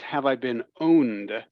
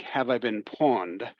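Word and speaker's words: Have I Been Pwned: uh chat here um is called it it's pronounced have I been owned but it looks like have I been pawned um the p is pronounced like an O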